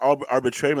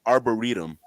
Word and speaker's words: arboretum: It's not arbitrarium. It's called an arboretum.